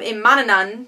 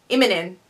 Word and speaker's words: Immonen: And the artwork, I think, this is some of Imananan. I can never pronounce his name. Immonen. I think that's how you pronounce his last name.